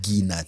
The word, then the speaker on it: groundnut: And then if there's a bit of groundnut on it, and I want to pronounce it like a typical Ugandan, some ghee-nut.